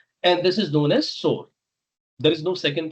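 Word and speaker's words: SOAR: And this is known as sore. There is no second pronunciation here.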